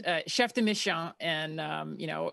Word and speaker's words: chef de mission: is chef de mission but no it's uh chef de mission and um you know it's when i got